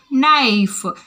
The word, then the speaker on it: knife: Next, move on to knife. What is it? Knife. K is silent.